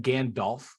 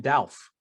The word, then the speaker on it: Gandalf: also can we address something here isn't it Gandalf what did I say you say again delf is that what I say yeah instead of